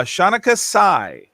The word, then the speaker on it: Shanukah: on today please welcome to the show uh shanika did you pronounce your name for me so i say